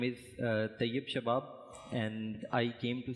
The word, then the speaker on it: Tayyab: So, over here in the middle, let me introduce, I'm going to get your name wrong, Tayyab? Is that correct? Yep, Tayyab SHABAB.